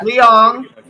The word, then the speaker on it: Leong: How do you pronounce it? Yes, that's it. Yeah. Leong.